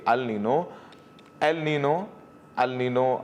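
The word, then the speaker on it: El Niño: बता देते हैं कि अल नीनो अब दोनों तरीके से इसको प्रोनाउंस करते हैं, जो भी सही है वो स्वीकारिए। तो एल नीनो प्रशांत महासागर के समुद्री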